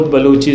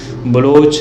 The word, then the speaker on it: بلوچ: لفظ بلوچ بھی خود بلوچی زبان کا پرانا لفظ ہے جس کا صحیح تلفظ بلوچ ہے، جس کو فارسی والے بلوچ کہتے ہیں۔ بلوچی زبان میں آج